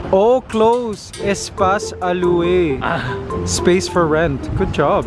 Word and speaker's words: Espace à louer: I couldn't even pronounce English correctly. How about that? Go. Espace à loi. Oh, close. Espace à louer.